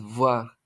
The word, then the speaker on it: voir: Voir, esto se pronuncia como una B bilabial con los dientes casi cerrados expulsando aire.